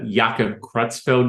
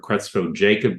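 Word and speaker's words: Creutzfeldt-Jakob: I mean, Yaka Kutzfeld disease is the name or Crutzo Jacob disease depending upon who's pronouncing it and where they were trained at.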